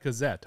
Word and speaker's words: Kozojed: uh your your last name is do you pronounce it cazette cazette yep cazette okay what uh what is what heritage is